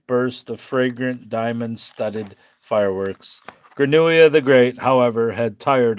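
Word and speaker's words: Grenouille: Yeah, I know it does only because I looked up the pronunciation of Granuia.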